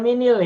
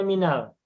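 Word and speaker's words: مِنَ: Nah ini tidak dibaca minil ya. Tidak dibaca minil, tapi menjadi bacanya minal. Min, minal. Begitupun an.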